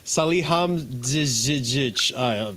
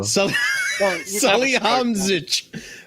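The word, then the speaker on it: Salihamidžić: Sal, What did you do with the D, bro?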